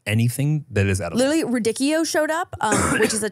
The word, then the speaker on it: radicchio: Wait, so how are you supposed to pronounce it? Radicchio. Radicchio. No dick. Radicchio.